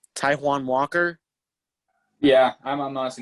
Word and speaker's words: Taijuan: Taijuan Walker? Yeah, I'm honestly not sure. It's like Taiwan, something like that. Taijuan Walker.